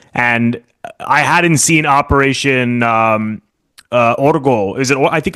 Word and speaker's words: Ogro: And I hadn't seen Operation Orgo. Is it? I think it's Orgo. I believe. I think I mispronounce it because I say Ogro, but it's Orgo.